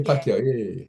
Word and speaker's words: Pacquiao: Yeah, Yeah, Pacquiao.